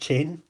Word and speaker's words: Chain: Ashton Chain says his name is pronounced Chain, so I apologise for getting it wrong previously, Ashton.